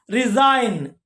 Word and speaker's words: resign: Resign, G silent, resign.